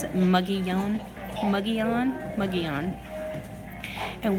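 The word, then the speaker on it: Mogollon: but ending in New Mexico the people there pronounced it muggy young muggy Alan McGee on and what it is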